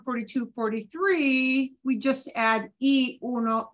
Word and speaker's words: y: 43 we just add e Uno e Dos Equis you're always saying it will always sound like the math yeah you're adding because that little word e spelled like with a y or in Spanish that's